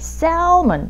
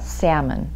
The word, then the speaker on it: salmon: 많은 분들이 이 L 때문에 salmon, salmon 이렇게 발음하시는데요. L이 무음이에요. salmon.